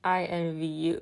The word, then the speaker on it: INVU: and then I felt really dumb it is pronounced I in v u which I think is a really clever name